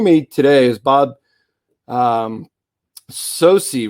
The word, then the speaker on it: Socci: at it and says so it's your maybe socky once in a while but you know from the time that uh i was uh you know could could say my name it was sosi in our household so that's what it